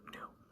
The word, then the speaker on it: nu: So nu. It is also pronounced like an N in the English language, so the pronunciation like mu is easy enough.